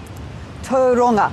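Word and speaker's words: Tauranga: Schwarz first of all am I pronouncing that place correctly is it Tanga toonga toonga thank you hard for me to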